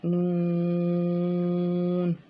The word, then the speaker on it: ن: جاتا ہے، ٹھیک ہے۔ pronounced from the tip of the tongue touching the gums of all top 4 teeth.